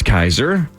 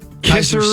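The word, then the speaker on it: Kiser: r I think right I assume it's Kaiser I would assume kisser would be two s's yeah k i s e r it's got to be Kaiser right I would think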